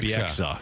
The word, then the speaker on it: Bieksa: Caleb, you said Kevin Bieksa. Bieksa? Bieksa. Excuse me, Bieksa. Yeah, I said it wrong the first time, and then I realized I said it wrong.